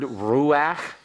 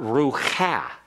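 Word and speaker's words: רוח: If you have the word ruach, spirit, this does not have an accent here. Why? Because this is not rucha. And this is not a syllable here. It's a half vowel. The pathak furtive is pronounced ahead of the chaf, and therefore there's really only one syllable here.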